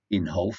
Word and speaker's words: Inhofe: Republican Jim Inhofe, it's called Inhofe, I did check the pronunciation, that's what they said it was.